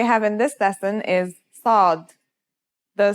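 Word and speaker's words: ص: And it kind of sounds like the s in the word saw. This sound is pronounced with your throat constricted.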